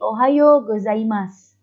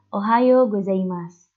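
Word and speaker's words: おはようございます: Kalau kita hendak mengucapkan selamat pagi, itu berarti ohayo gozaimasu. Itu kalau ada huruf su, u-nya dihapus dulu. Jadi mas aja. Ohayo gozaimasu. Selamat siang.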